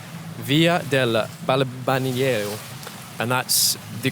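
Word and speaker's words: Balbianello: This villa is called Via del Balbaniero, and that's the correct way to pronounce it.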